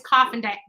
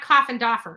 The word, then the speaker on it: Coffindaffer: Her name is Coffindaffer. It's not Coffindaffer. It's Coffindaffer.